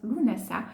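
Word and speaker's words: Lughnasadh: Ensuite, on va avoir, donc entre le solstice d'été et l'équinoxe d'automne, on va avoir Lunasa, qui s'écrit Lugnasad, il se prononce Lunasa.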